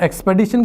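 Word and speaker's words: expedition: जाएगा ऑप्शन डी क्यों क्योंकि एक्सपिडिशन नहीं होता एक्स एक्सपेडिशन होता है और एक्सपेडिशन की स्पेलिंग में यहां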